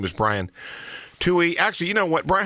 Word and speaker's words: Tuohy: talking to an expert today his name is tuy actually you know what Brian how do you sp how do you say your last name you were right on the money tuy tuy all right I'm good anyway the work is